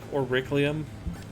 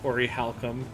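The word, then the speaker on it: Orichalcum: Was I the only one as a kid who used to call that like Auriclium?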